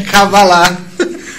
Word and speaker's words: cabalá: errado você fala não essa palavra é uma palavra oxítona terminada em a e como Judá aá é cabalá e pra gente entender